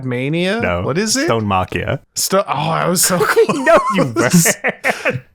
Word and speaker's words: Stonemachia: Squad Mania and Stonemachia? You cannot tell me. It's like parts of that word phonetically were close wrong.